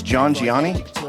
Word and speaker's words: Jhangiani: It's Jhangiani. Jhangiani. Jhangiani. Close enough. Jhangiani. Yeah. It's a hard G.